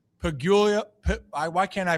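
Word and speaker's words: Pegula: So Brandon Bean and uh and believe it was Terry Pula, the owner. Pigula I why can't I pronounce this pronounc unique New York owner of the Bills.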